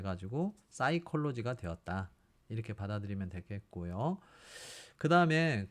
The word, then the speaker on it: psychology: 그런 규칙이 있죠 그래서 피는 발음하지 않고 뒤에서부터 사이콜로지 이렇게 읽으시면 될 거 같습니다 자 그런데 라틴어 라틴어라는